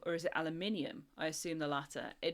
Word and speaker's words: aluminium: Aluminium is the correct way of pronouncing it and it's the correct way of pronouncing it with that spelling. Whereas I think Americans actually spell it with one less I which also controversially means that it's correct for their pron pronunciation as well.